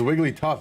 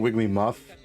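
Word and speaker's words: Wigglytuff: It's Wiggly Tough. It's not Wiggly Muff.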